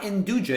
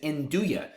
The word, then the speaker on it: nduja: for it's apparently Uya spelled n d u j a once again it's not induja it is Uya this is a type